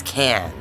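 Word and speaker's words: Cannes: Can. It's can. The S is silent. The C sounds like a K.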